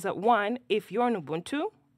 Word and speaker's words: Ubuntu: one if you're in Ubuntu sorry I should correct it because otherwise God has someone will call me Ubuntu that's the correct pronunciation um it will notice